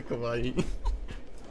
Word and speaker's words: Kauai: Not Hawaii, Kauai. So it's like, yeah, you gotta think about that area. Not Kauai, not Kauai, Kauai. Kauai. How do you? I'm pretty sure it's pronounced Kauai. It's literally Kauai.